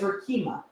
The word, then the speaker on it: Rikimah: I love that I love that no it's Rima awesome awesome tell us about your like how